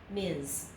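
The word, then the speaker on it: Ms.: in this period okay ms it's pretty much like mi Z okay let's try that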